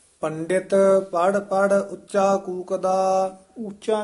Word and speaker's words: उच्चा: उच्चा नहीं कहना है उच्चा औंकड़ नाल उच्चारण करना है पंडित पढ़ पढ़ उच्चा कूकदा।